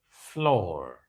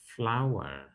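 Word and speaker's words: flour: many people call it Flor they they talk of Flor for baking Flor for baking but no it is pronounced exactly the same as this so both of them are pronounced flower flower see that so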